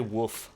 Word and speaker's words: wolf: They say woof. Like they really don't pronounce the L.